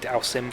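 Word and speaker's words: Dhalsim: I remember when I was young, I thought damsel was how you pronounce Dowsim from Street Fighter.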